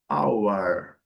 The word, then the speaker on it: hour: Lembrando, no inglês britânico, letra R não é pronunciada, então, hour. No inglês americano e no inglês britânico, hour.